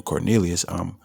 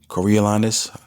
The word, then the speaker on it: Coriolanus: I know it's not no damn Cornelius. Coriolanus.